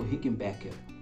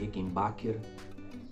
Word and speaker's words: Rickenbacker: durante um tempo modelo rickenbacker rickenbacker tem que falar e tem veia a gente falar é rica em backer a não ficar na verdade não ser a pronúncia correta tá mas é um